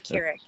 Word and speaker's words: Kirik: And we have our special interviewer, guest interviewer, I guess you would say tonight, Miss Kirik. Did I say it right? Yeah. Kirik. Yes, Kirik. Got it right.